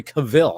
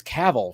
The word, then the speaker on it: Cavill: people were calling henry cavill i remember calling him that yeah now for the longest time they're like oh wait it's caval we've been saying it wrong but uh now he's